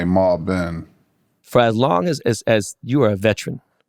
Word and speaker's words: Malbon: We've been saying Malbon. It's actually Malben. They say Malboni, Malben, Malbon, but There it is. My family would say Malben.